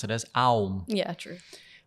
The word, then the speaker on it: Aum: 3 syllables in a single syllable. They come together to make Om.